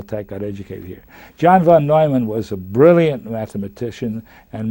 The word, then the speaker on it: von Neumann: went through cal tech got educated here john von neumann was a brilliant mathematician and mathematical physicists with